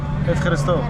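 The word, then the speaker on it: Ευχαριστώ: Efcharisto. Efharisto.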